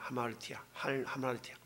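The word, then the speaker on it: ἁμαρτία: 불법이라는 것도 그 율법이라는 그런 단어와 아까 말씀했던 하마르티아의 그 맨 앞에 있었던 그 알파가 이게 발음 기호가 강하게 되면 하로 되거든요.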